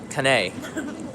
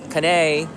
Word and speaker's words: Kanae: see the kunai and she spells her name ka and AE right but when we were in New York everybody pronounced your name wrong even the Starbucks lady she did can't connect on a kanay kanae cafe latte for kanay and then you were